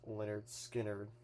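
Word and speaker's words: Lynyrd Skynyrd: And then here's the one for pronounced Leonard Skard.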